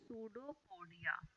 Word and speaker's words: pseudopodia: Amoeba extend their these part around the food, and these part are known as pseudopodia. P is silent here.